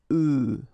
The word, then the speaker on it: œufs: And the tricky thing when we're talking about eggs is that if you listen carefully, the pronunciation is changing quite much because for the singular form it's œuf, but then for the plural form here it's œufs, okay?